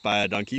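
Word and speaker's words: baie dankie: a dog - yeah say it's pronounced by a donkey but it means thank you very much in Afrikaans one of the local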